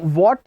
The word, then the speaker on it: what: एक बात का ध्यान रखिएगा, व्हाट नहीं बोलना है, मतलब WHAT में व्हाट नहीं बोलना है. एच, यहाँ पे जो एच है वो साइलेंट रहेगा. व्हाट नहीं कहना है, व्हाट, व्हाट, व्हाट बोलना है. कई बार इसके उच्चारण में जो आपका आता है हा, व्हाट, गलत होता है.